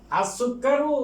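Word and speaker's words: السكر: আর সুক্কারু হুলুন, এই যে সুক্কারুন সিন এটা হুরুফে শামসিয়া, এই জন্য লামের উচ্চারণ হবে না।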